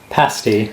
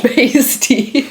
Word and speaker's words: pasty: long enough to where I start forgetting what's the American pronunciation, what's the British, and I start thinking second guessing yourself. Yeah. And I knew it was pasti, but I asked him for a Cornish pasty.